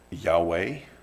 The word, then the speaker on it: Yahweh: Spelled funny. Even my first grader could tell you there's no vowels there. We pronounce it Yahweh.